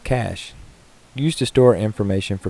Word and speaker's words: cache: be too far away cash pronounced cash used to store information